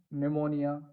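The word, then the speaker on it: pneumonia: तो जैसे साइकोलॉजी, इसमें पी है लेकिन बोला नहीं जा रहा है ना। निमोनिया, इसमें पी है लेकिन वो भी साइलेंट है। रेसीट, इसको क्या है गाइज, रेसीट बोला जाता है। तो यहाँ भी क्या है, पी साइलेंट हो रहा है।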